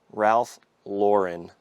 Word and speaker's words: Ralph Lauren: So, I've been corrected on this a hundred times, and I'm trying to pronounce it right. Polo Ralph Lauren.